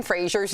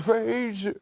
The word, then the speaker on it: Fraser: It turns out we've been saying Brendan Fraser's name wrong. We all thought it was Fraser, like the Cheers character, right?